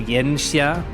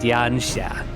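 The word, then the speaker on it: Yanxia: See, I read that and I I want to read Yansha as Mandarin is where it's pronounced Yensha, but it's pronounced Yansa.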